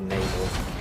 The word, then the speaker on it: Namor: neyar one the more depending on how you want to say his name I've always pronounced it namore but I know some people go for neyar us having two tanks